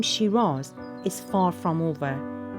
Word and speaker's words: Scyras: He spelled it S-C-Y-R-A-S. And if you pronounce it the Australian way, you would pronounce it Shiraz. So the use of the name Shiraz in Australia comes from a mispronunciation of the variety.